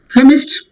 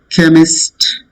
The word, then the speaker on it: chemist: Chemist, same as ache. Chemist. H is silent. C is pronounced as ka.